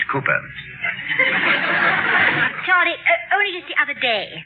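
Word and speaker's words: Cowper: cooper danny uh it is spelled calper but pronounced cooper only just the other day i heard you call him calper oh i know my dear i sometimes do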